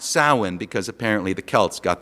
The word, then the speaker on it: Samhain: head on with a festival called Samhain, actually pronounced Samhain because apparently the Celts got their W upside down.